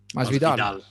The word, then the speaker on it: Masvidal: Masvidal.